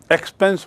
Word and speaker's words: expanse: Please see the word, it is not expense, एक्सपेंस माने खर्चा, EXPENSE। यहाँ है इसका स्पेलिंग एक्सपांस, EXPANSE।